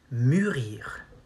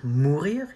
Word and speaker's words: mûrir: You say mûrir. Not mourir, it means to die.